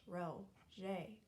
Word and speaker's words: Roget: Peter Mark Roget, pronounced Roget.